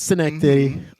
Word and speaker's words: Schenectady: Is that how It's you pronounce that? Schenectady, New York. It's Schenectady.